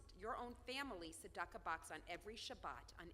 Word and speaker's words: tzedakah: It's spelled tzedakah. Can you say it out there? It's like a snake. Make the sound of a snake.